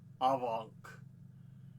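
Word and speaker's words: afanc: Avank is how the Welsh pronunciation says it's like but yeah.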